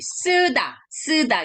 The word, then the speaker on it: 쓰다: Oke, 쓰다 gitu. 더블 S야. Kalau cuma S-nya satu, ini lembutnya. terdengarnya lembut, Tapi ini S-nya dua, jadi harus lebih keras.